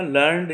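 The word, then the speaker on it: learned: लेकिन इसमें दोनों में इनका प्रोनाउंसिएशन अलग अलग होगा। जैसे लर्नड अगर हम पढ़ रहे हैं तो लर्न में ये वर्ब का तीसरा फॉर्म पढ़ा जाएगा, और लर्नेड ये एडजेक्टिव के तौर पर इस्तेमाल होगा।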